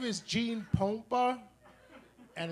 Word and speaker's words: Pompa: My name is Gene Pompa, and in Spanish is pronounced Pompa, but I'm not Spanish, I'm Mexican-American.